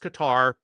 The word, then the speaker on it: Qatar: They start shooting at all of these other countries, Bahrain, Qatar, and by the way, it is pronounced Qatar.